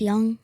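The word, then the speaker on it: Jung: Jace Young, that guy. Young. Yeah, it looks like June. It's spelled weird.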